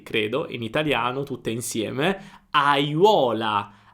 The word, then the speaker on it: aiuola: Aiuola. Auola. Vedi, ho pronunciato tutte le vocali.